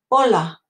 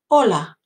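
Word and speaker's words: hola: to help you also H is silent start of a word in Spanish so do you know the word for hi Ola that's right Ola and you can emphasize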